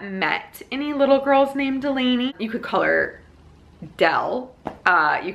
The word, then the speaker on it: Delaney: a pretty name and I was like Donnie its Delaney so we pronounced the name differently and so immediately it